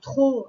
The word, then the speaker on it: trop: Donc trop, hein, c'est le mot outil qui s'écrit T-R-O-P. Il y a un P qui est muet à la fin.